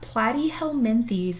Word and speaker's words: Platyhelminthes: organ it's just kind of chunky tissue phylum platyhelminthes is how you say that fun word the